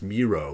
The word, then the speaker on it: Mireault: He's French Canadian. It's Miro, like zero.